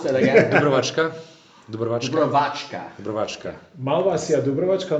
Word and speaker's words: Dubrovačka: Yes, so we have the first bottle, that's Malvasia how do you pronounce that again? Dubrovačka.